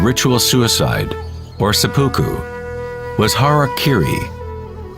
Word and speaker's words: harakiri: suicide or sepuku was harakiri was often mispronounced as harry kerry it means to impale